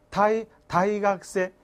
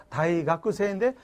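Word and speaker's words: 大学生: 자, 이어서 퇴학생은 뭐라고 해서 다이각세. 다이각구세인데 실제 발음할 때는 다이각세.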